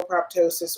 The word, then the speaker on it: proptosis: PROPTOSIS. Spell it again.